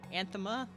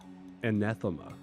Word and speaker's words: anathema: Oh so- yeah, we're going for Anthema. Yes. I never know how to pronounce it because the extra A always throws me off. Anathema.